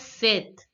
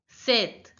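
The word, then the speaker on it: sept: speaker cheese again she's again she's seven is pronounced as Seth Seth said now listen to the pronunciation of the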